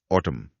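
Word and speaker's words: autumn: 198 ऑटम शरद ऋतु। ऑटम ए यू टी यू एम एन जैसे column में था इसमें भी अंत में साइलेंट एन है।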